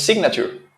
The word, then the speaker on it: signature: De señalizar, señalar, pero sí se pronuncia cuando uno dice signature, que es la firma.